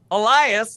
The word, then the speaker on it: Elias: Elias. Did I get your last name right? Perfect. Yeah. Nailed it.